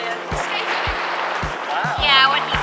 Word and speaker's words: Scheveningen: Scheveningen.